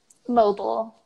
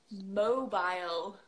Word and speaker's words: mobile: pronounce the R either how about this one mobile mobile mobile stress changes and the valve mobile so like your home